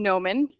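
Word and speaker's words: gnomon: called a Gomen a genome it's yeah it's pronounced Gomen it's a a Gomen to a figure is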